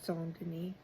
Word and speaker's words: Saint Denis: It's spelled Saint Denis or Saint Denis, but it's Saint Denis.